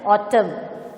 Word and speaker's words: autumn: N is silent, autumn.